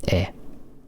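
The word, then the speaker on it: え: There it is. Eh. Always pronounced eh. Never anything else.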